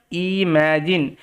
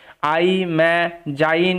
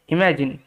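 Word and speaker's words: imagine: মনে রাখতে হবে ইমাজিন আই ম্যা যাইন এরকম ভাবে কিন্তু উচ্চারণটা হবে না ওকে ইমাজিন ভাবুন তো এরকম হোয়াট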